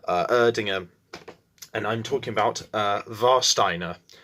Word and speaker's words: Warsteiner: and I'm talking about Warsteiner, spelled Warsteiner. Obviously, I'm guessing, considering it's a German beer, the W is pronounced V.